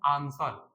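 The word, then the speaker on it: answer: है इसको पढ़ते हैं आंसर क्या पढ़ते हैं आंसर तो आंसर में आंसर ए एन एस आन सर ई आ डब्लू साइलेंट है इसलिए डी ऑप्शन इज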